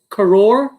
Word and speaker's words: Kurz: Gabe Kurz. Is it Kurz or Kors? Am I saying it wrong? It's Karor. Karors. All right. Yeah. Karors. Yeah. But if it's CRS, you can say Kurz if you want.